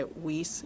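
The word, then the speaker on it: Weis: that because there's another wise right up the street so are you talking about both or you say whis is that how you say it I say wise okay I say wise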